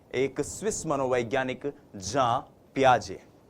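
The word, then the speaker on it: Jean Piaget: लेकिन यह जो जीन शब्द है जे इ एन जो ये स्पेलिंग है ये स्पेलिंग जो है इसका उच्चारण जब आप स्विस भाषा में करते हैं यूरोपियन कंट्रीज में करते हैं फॉरेन ऑथर्स को पढ़ते हैं तो वो होता है जा पियाजे।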